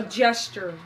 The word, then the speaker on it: gesture: A gesture.